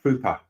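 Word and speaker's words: Pröpper: John says 2 dots above his name in the O makes it pronounced like Prupper.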